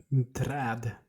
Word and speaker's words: Träd: Träd. Träd. Trad. We have this a with two dots on top of them, and that Uh-huh. goes ah.